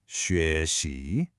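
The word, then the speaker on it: 学习: Now, you might notice there's no tone mark on that second syllable. That's called the neutral tone. It's just short, light, and it gets its pitch from the syllable before it.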